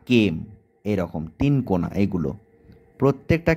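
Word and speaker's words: kame: ভূমিরূপটা আছে সেটা হচ্ছে কেম এর ইংরেজি উচ্চারণটা কিন্তু সেম কে এম ই কেম ধরো আমি বললাম যে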